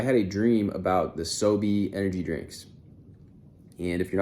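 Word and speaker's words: SoBe: Utah and I had a dream about the soie energy drinks and if you're not familiar with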